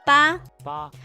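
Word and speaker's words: 八: yes and this is sun eight eight is ba where you just draw draw like actually actually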